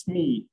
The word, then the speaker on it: SME: who here knows what the acronym sme stands for or generally pronounced smee all right so uh